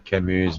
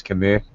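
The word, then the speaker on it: Camus: Stop pronouncing Kimu's name like he's a dairy cow. It's not Kimu, it's Kamu.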